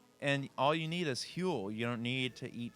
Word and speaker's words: Huell: know you'll be okay you say it like he'll what is it I think it's fuel like fuel with a name Huell Huell okay it's an H it's H UEL Oh they should have